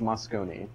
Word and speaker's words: Moscone: i am told by locals that it is pronounced moscone so makes sense uh right okay so this